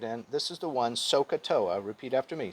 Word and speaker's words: SOHCAHTOA: what we're interested in this is the one sohcahtoa repeat after me so ka toa sokatoa that's what you need to remember to